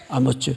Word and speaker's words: 아모츠: 히브리 말로 뭐라고 발음하도록 되어 있죠? 아모츠. 원래 이렇게 번역이 됐어야 맞았습니다.